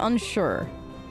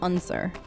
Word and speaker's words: Unsure: be seeing you bye he pronounced his name unsure i thought it was unser so that's interesting i